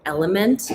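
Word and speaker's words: LMNT: I also use something called Element, it's spelled L M N T, and it's a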